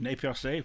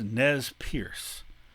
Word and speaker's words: Nez Perce: And this group, the Nez Percés, another French word, Nez Percés, which means pierced noses, or because it's French, noses pierced, pronounced by Americans as Nez Perce, which is the terminology